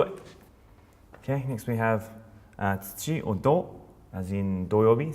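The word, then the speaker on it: 土: But I don't, so here we are. That's it, gold. Also for kinyobi for Friday. So on to the next one. Let's do it. Okay, next we have tsuchi or do, as in doyobi.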